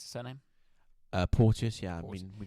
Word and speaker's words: Porteous: Is that how you pronounce the surname? Porteous, yeah.